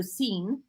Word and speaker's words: sin: something like that scene so it's s-i-n without so seen as is how it's pronounced I used to speak